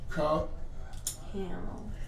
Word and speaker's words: Crouthamel: Kraut. Hamel. Hamel. Sauerkraut and Dorothy Hamel. I always say to split the T and the H.